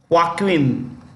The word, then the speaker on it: Joaquin: Johnson is headed by Joaquin this J is pronounced with the ha H okay Joaquin duato that's